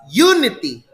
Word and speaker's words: unity: because its pronunciation is unity so the stress is on the first syllable you didn't place it